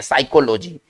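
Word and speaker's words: psychology: देखिए साइकोलॉजी में भले हम एस से बात को बोल रहे हैं साइकोलॉजी, लेकिन इसको लिखते हैं पी से, ठीक है ना।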